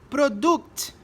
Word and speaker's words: product: Só que o U em inglês não é U, é A. Então a gente falaria assim no brasileirismo, né? No português brasileirado. Product, customer, production. E aí é errado, porque é o A.